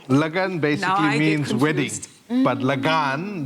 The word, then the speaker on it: Lagan: That's Lagan. Lagan. Oh, Lagan. Lagan basically means wedding. But Lagan, the A is pronounced longer.